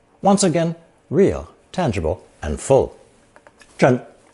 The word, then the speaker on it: 镇: Pronounced fourth tone, 真, 真.